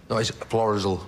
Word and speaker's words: Florizel: well II said Florizel I thought the pronunciation was thrice all sorry Florizel Street isn't that right owner yes that's right thank you it's a